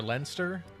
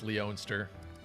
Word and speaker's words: Leonster: goodbye Sage citrine yeah the pronunciation of what I thought was leonster or Leinster it's weird that it's leonster it's gonna take some getting used to Mage Knight with